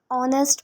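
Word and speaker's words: honest: सो इसका आंसर हमारा हो जाएगा बी एन व्हाई N because in ऑनेस्ट जो स्पेलिंग है भले ही वो एच से हो बट जो प्रोनंसिएशन है इसकी वो ओ से होती है तो हम प्रोनंसिएशन के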